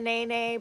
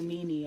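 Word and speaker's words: nēnē: We didn't even know how to say it correctly. No, we were calling it a nini up until we heard somebody who was living here say it.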